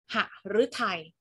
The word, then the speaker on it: หฤทัย: หอ ห*บ นะ คะ อ่าน ออก เสียง แบบ เรียง พยางค์ เลย นะ คะ เช่น หฤทัย หฤทัย ไหม คะ หา ฤทัย